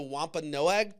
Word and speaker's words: Wampanoag: And so he ended up kind of joining the Wampanoag tribe. I fucking listened to that word, Wampanoag. That's how you say it.